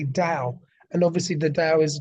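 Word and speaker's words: Tao: T Au oh sorry ta o which is Dow is phonetically Dow and obviously the da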